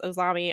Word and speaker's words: AZM: I think it's pronounced Ozami, I believe is what Brad said, and Brad is not here to correct me, so I am sorry if I get that incorrect.